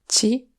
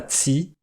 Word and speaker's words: ci: S'ils sont suivis par un i, alors on ne met pas d'accent, comme dans ti, à toi, qui est bien prononcé, Ci, et pas tsi.